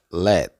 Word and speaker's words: let: a ver esta palabra se pronuncia Let let como si fuera pronunciar la t pero no la pronuncia Let L y la